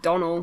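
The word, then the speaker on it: Donnel: head he's not bonen I say I say Donal not Dell yeah I say Donal as well oh it annoys me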